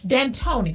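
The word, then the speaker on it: D'Antoni: what's his name Deon how do you say dantony d Tony okay don't want to take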